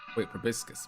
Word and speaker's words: proboscis: Proboscis.